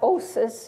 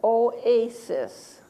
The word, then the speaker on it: oasis: poem no its poem it's not OSIS it's Oasis so I'm dividing after the Oh after the a how many syllables in